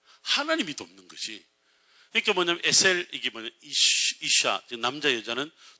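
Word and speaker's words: עזר: 요거를 히브리 말로 에셀이라고 발음을 해요. 에셀.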